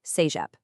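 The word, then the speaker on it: CEGEP: C E G E P pronounced say-jep.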